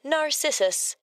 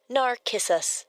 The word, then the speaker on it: Narcissus: In English, we say Narcissus, but the proper Greek pronunciation is actually narissus.